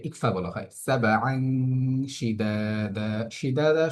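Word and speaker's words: شدادا: সাবআন শিদাদা, শিদাদা শব্দটির মধ্যে এসে আমরা দালে একালিফ টান দিচ্ছি এবং এই দালের মধ্যে একালিফ টান দিচ্ছি, কারণটা ওই আগের নিয়ম, জবরের বাম পাশে খালি আলিফ মাদের হরফ।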